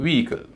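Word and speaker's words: vehicle: तो इसको बोला जाएगा ऑोजिट ऑोजिट इस तरह वीकल वी ईल इसमें वी ई का उच्चारण दीर्घ ई होगा वी क्योंकि उस स्ट्रेस है दूसरे सिलेबल में एच आई है एच का उच्चारण नहीं होता है आई है आई का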